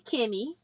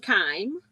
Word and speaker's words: Kime: But the border workbook is by Janet Kime, Cime, or it could be Kimmy. But I pronounce mine with a long vowel, so I'm saying Kime.